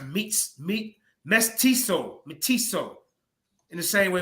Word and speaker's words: mestizo: both in uh Nick's ethics Heritage called mezzo pronounced meets meat mestizo matisso in the same way Mexican religious myths